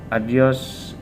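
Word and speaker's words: adiós: a particular word okay adios the accent is in the second syllable okay adios patria adorada region okay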